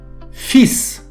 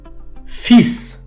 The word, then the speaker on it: fils: швидше за все ви знаєте що кінцева літера с у французькій мові не читається однак у цьому слові Як не дивно кінцева літера с читається і при цьому не читається попередня літера L таких слів у французькій мові небагато і їх читання потрібно запам'ятати слово фіз у французькій